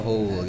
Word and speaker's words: whole: Society as a whole way-nya enggak usah dibaca ya whole gitu ya kayak apa bedanya sama lubang ya sama bacanya Sama tulisannya aja beda guys kalau lubang kan h o l ya Sama aja bacanya sama addressing mengatasi atau